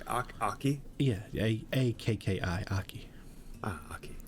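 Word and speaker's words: Akki: Yeah, A-K-K-I, Aki. Ah, Aki. Some people pronounce it in the north Aki, but tomato.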